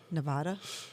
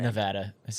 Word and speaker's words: Nevada: way to say it so according to the state's residents it's Nevada like Ed but everyone else calls it odd like Nevada and I've been called